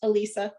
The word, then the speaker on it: Alyssa: Okay, it's pronounced Elisa. I don't mean to. Oh, I'm sorry, Elisa. It's okay. It's spelled Alyssa.